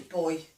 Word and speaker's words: buoy: We always say that as boy, yeah, and like in the soap, Lifebuoy soap.